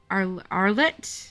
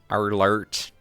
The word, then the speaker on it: Arlert: friends Mikasa Ackerman and Armin Arlet. I think is how you pronounce that. Arlert. I think the R rolls dramatic. and it's kind of silent. Yeah. It's like Arlert. Like, yeah, something like that.